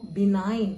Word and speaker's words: benign: பினைன் அப்படின்னு ப்ரொனவுன்ஸ் பண்ணணும்.